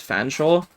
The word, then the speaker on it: Fanshawe: This is the name of a town in England which genuinely is pronounced Fanshawe.